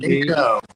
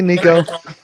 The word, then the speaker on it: Nico: Nico. And it's spelled just like it sounds. Hey, Nico.